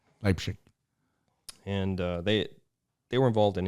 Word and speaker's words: Leipzig: And how do you pronounce it in German? You said it earlier. Leipzig. Leipzig.